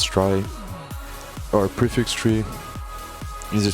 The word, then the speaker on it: trie: movies a tree pronounced as try our prefix tree is